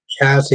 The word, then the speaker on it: Cassie: Cassie is pronounced like a in grass.